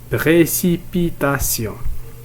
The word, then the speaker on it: précipitation: إذا ننتقل إلى الكلمة الثالثة précipitation. Alors la première syllabe c'est pré, deuxième syllabe si, troisième syllabe pi, quatrième syllabe tation. Alors nous avons ici 5 syllabes précipitation.